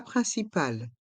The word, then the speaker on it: principal: Le plat principal. Le plat principal. Dans le mot plat, le T est muet. Plat. Principal. Il faut bien prononcer le I et le N qui font le son un. Principal.